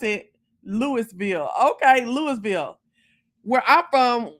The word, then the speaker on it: Louisville: idea okay yes so in mississippi they call it lewisville now i can see